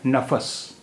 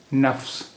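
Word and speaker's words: نفس: One is nafas, noon fe sin, nafas, nafas, and another word is nafs, noon fe sin. Both the words have noon fe sin. One is pronounced as nafas, and another is pronounced as nafs.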